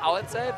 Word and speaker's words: Alice: They pronounce it Alitze, but you got it right.